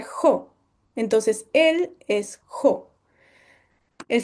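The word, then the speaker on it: ὁ: Entonces, este Omicron con espíritu aspirado se pronuncia jo.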